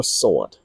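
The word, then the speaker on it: dough: คิด ดู นะ ฮะ คำ นี้ อ่าน ว่า โด นะ ฮะ โด ไม่ ใช่ สวด นะ ดัง นั้น นี่ แหละ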